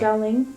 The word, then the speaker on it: Xialing: I'm gonna probably pronounce her name wrong. Yeah, you can probably tell me. Thank you. Xialing. Yeah. Xialing.